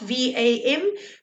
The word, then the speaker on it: vam: Okay, so it's spelled V-A-M, but it's pronounced VAM.